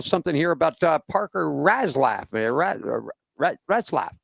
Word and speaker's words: Retzlaff: Retzlaff. There you go. Yeah, Retzlaff. I would say that's how you pronounce that.